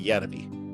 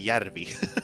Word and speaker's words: Järvi: His real name is Sami Järvi, and he's just like translated that to Sam